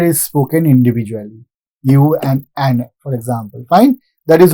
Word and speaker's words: UN: See the example, UN. I am not saying un. I am not pronouncing it as one single word. I am pronouncing these 2 letters U and N separately.